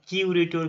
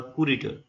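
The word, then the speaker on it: curator: যখন দুটো জায়গার দায়িত্বে থাকবে, তখন বলা হয় কিউরেটর কিংবা কুরেটর। ঠিক আছে, কিউরেটর কিংবা কুরেটর, যে যেমন পারো উচ্চারণ করে, কিউরেটরটা সব থেকে ভালো হবে, কিউরেটরটা উচ্চারণ করতে পারো।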